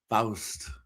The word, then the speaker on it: Faust: ever since you told me how to pronounce it, Faust Fuels, it's a little challenging for me with the dentures. Faust. It's hard. Forever, I was just saying fast fuels.